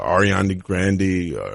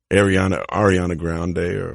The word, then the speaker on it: Ariana Grande: Ariana Grande. I said her name wrong. Ariana Grande.